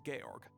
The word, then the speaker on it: Georg: angel's share stand the shopkeeper's name is Georg hey Eric not George okay he's a very